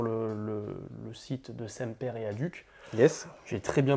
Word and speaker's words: Adhuc: pour aller sur le site de Semper et Aduc. Yes. J'ai très bien prononcé.